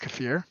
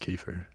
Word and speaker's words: kefir: that fucking yogurt shit, or you can use Kefir. yogurt. It's pronounced kefir. I think you'll find it's pronounced kefir.